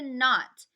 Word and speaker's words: knot: all the talking and a not we don't say the K sound the K is silent let's try it some